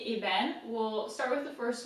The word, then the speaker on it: ébène: little bit complicated, it's ébène. So the first E is pronounced E because it's got an accent that goes this way.